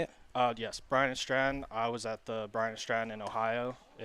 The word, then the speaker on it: Bryan and Stratton: Yes, Bryan and Stratton.